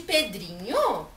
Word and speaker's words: Pedrinho: E na palavra Pedrinho, qual é a tônica? Dri! Isso mesmo.